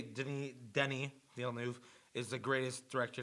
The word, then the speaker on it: Denis: How you pronounce it? Denis.